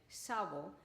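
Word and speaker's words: SAWBO: many people pronounce like sabo but you will hear me saying suavo probably is because i am from spain and this is the way i pronounce um it's okay okay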